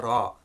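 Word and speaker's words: ر: Now this isn't like the English R, and that's the way this letter is used, usually used in Urdu, but that's not the way it's used in Arabic. Okay, the way to think about this letter, and the way to get it right, is to roll your tongue so you get a rrrr sound.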